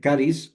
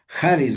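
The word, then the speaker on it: χάρις: es natural, eh, caris o Haris. Lo correcto es Haris. La pronunciación correcta es Haris, eh, porque de griego viene, harisma, harismata, eh, ¿no?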